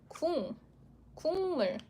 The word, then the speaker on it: 국물: You need to change it to sound. So it's a 국물.